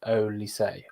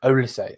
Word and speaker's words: Olise: do with um uh surname is pronounced O say O say okay thank you bro thank you thank you thank you thank you so ol say thank you I am